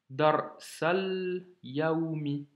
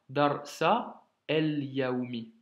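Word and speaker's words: الدرس اليومي: Qara'tu, darsa, liaison, de nouveau, darsal yaoumi, et pas darsa el yaoumi. Nous faisons la liaison car tu as le alif, lam, c'est le même principe.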